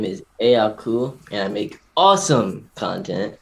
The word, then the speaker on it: Aakhu: Do I pronounce it Aku? Aku, yeah.